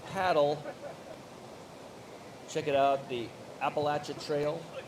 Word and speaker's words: Appalachia: Check it out, the Appalachia Trail. Not Appalachian Trail, I'm told. Appalachia Trail. I think I mispronounce it every time.